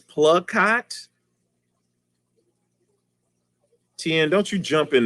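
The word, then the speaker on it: Plakat: plug like i like oh pla rhymes with blood clot oh plug cot that's p-l-a-k-a-t is plug-hot tien don't you jump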